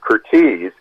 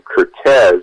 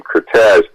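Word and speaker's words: Curtiz: you are TI Z which everyone pronounced as kirti's except or Michael Cooper who always pronounced his name Curtis going back to what he originally changed it so my desire to point that out was to kind of set the record straight also one of his granddaughter's said please point this out in the book that he pronounced his name Cortes but on the other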